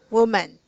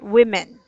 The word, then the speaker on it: women: So, yeah, earlier you said woman. So, if it's plural, we say women, okay?